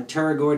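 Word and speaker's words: pterygoid: your lateral teroid uh teroid is spelled p t r uh y g i d so Lateral teroid with a p and uh basically what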